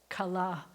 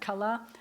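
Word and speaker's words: כלה: How do you say bride? Kala. Kala is the bride. Did you know that? Kala.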